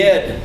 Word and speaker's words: id: The id. The ID. It's pronounced id.